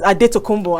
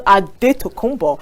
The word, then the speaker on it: Adetokounmpo: I mean, their name originally was Adetokounmpo and not Antetokounmpo. But because the Greek people, they didn't know how to pronounce Adetokounmpo. They kept calling him Antetokounmpo.